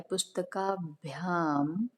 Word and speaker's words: पुस्तकेभ्यः: पुस्तकेभ्यः, और जो विसर्ग, उसको जो विसर्ग लिखा होता है उसको हा उच्चारण करते हैं।